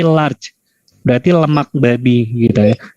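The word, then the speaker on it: لارد: Ada tulisan misalnya di bungkus rotinya itu ada tulisan Arabnya lam, alif, ro, dal. Ini dibacanya apa? Tulisannya Arab. Halal? Bentar dulu. Bukan halal ya, tapi large.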